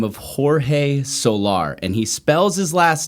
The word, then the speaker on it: Soler: name so we say solar okay the correct pronunciation would be solaire okay is that is